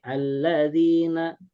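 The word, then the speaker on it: الَّذِينَ: Pokoknya mah setiap alladzina eh setiap kalimat ee alladzina gitu ya, maka alifnya dibaca A. Alladzina gitu.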